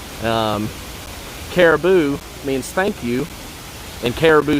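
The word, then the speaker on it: karibu: one of my co-workers caraboo which is spelled like you know the word caribou except with a k um caribou means thank you and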